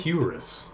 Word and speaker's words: cuirass: Cuirass. Cool. Curious. Very. Wait, it's curious. Q like with a Y sound? Cuirass?